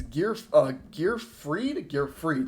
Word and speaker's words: Gearfried: We're going to start off with our first card, 2 Immortal Phoenix Gearfried, that's how you pronounce it.